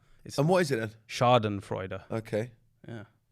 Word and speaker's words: Schadenfreude: I'm glad I actually looked up how to pronounce it because I was going to say shade and Freud but and what is it a Chardon Freud okay yeah it's actually pronounced that way and